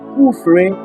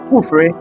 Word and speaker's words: Kufre: How difficult is it to pronounce Kufre? Just two syllables words. Kufre.